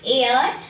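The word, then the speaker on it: heir: Let us come to the examples: an MA, MA, AMA, an X-ray, an NRI, an MD, an air. See here, H is silent. Only EIR is pronounced.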